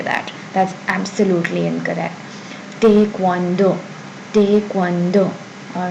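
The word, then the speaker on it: 태권도: Then there's taekwondo. Taekwondo, not taekwondo as you've probably learned in English or regular or what you say regularly, and it's not entirely taekwondo. Please don't say that. That's absolutely incorrect. Taekwondo, taekwondo.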